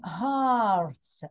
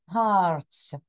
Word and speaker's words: hearts: symbols on cards include Hearts ah you've got an EA yeah and that's a long ah Hearts okay designs designs okay